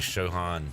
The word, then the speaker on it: Siobhan: more like Sho Otani than Siobhan Revel like Shan Revel Siobhan Revel that's good you said it